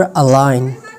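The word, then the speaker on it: align: जी हमारे पास साइलेंट होती हैं जब ये एन से पहले आता है। मिसाल के तौर पर अलाइन, साइन, कैंपेन।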